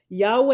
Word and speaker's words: Yahweh: touch of graminson now Yahweh is the usual pronunciation Yahweh the tetragrammatin described